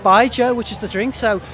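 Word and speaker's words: baijiu: Believe it or not, Bai Zhou, which is the drink. So to remember how to pronounce the name, you think of Bai and then the name Zhou.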